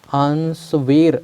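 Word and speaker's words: answer: Otherwise मान लो इसको कैसे पढ़ते, आंसवेर ऐसा पढ़ते हैं ना, अगर ये डब्लू को भी प्रोनाउंशिएट करना होता तो तो ये व वाला शब्द नहीं आता, इसका मतलब साइलेंट कौन सा है, डब्लू।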